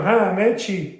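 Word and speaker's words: همه‌چی: 3 syllables for ha-me-chi. 3 syllables.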